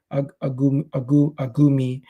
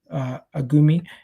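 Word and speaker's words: Agoumé: Lucien Agoume. That's how you pronounce it. Agoume.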